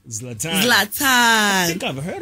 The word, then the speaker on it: Zlatan: Is it spelled L-A-T-A-N? No, it's spelled Z-L-A-T-E-N. So it's Zlatan.